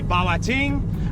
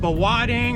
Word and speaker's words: Bawating: So, the traditional name for this place is gonna be Bawating. You can hear it pronounced Bawading or Baktigong.